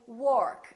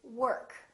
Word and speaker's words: work: is a difficult one a lot of people would say work that's incorrect don't say I go to work work say I go to work or worry don't say